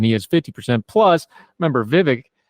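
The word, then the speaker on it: Vivek: is 50% plus remember Vivic rhymes with fake is in this race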